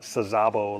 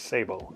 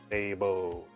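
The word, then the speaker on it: Saybo: I say Sabbo, Joe Sabbo, not Sazabo like everyone says. Uh, I'm friends with him, so I know. He told me it's Sabo. S A Y B O. Sabo, how you pronounce it?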